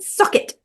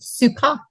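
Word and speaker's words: Succat: given name was maywin sucket I think that's pronounced sucot it's suck it oh that's how they say it in the veggie tailes video oh really okay of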